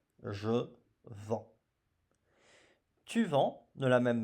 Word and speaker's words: vends: Je vends. Je vends. Voyez-vous ? Nous rajoutons un S. Un S qui bien sûr ne se prononce pas. Je vends.